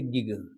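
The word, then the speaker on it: gig: तो जी आई जी को हम लिखेंगे गिग। पहला ग पहला जो जी है जी आई यहां पे वो भी ग बोलेंगे। साउंड आएगा उसका ग और दूसरा जो जी है उसका भी साउंड गा आएगा।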